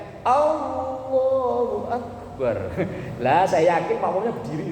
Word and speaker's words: Allahu Akbar: Yang misalnya ada imamnya bacanya Allahu Akbar, ngikutin sambil sujud, lah keliru. Nanti huruf ba dalam lafaz akbar nggak boleh dipanjangkan, dan huruf hamzah dalam lafaz Allahu Akbar juga tidak boleh dipanjangkan.